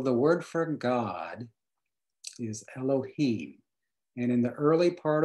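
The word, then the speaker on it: אלהים: If you can see that extra symbol in there, that's the letter Vav, but it doubles as a long O sound, as in Elohim.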